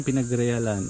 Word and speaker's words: Pinagrealan: Ang pangalan ng kuweba, pinagrealan. Mali lagi yung bigkas ko. Pinagrealan, yun yung ibig sabihin nun.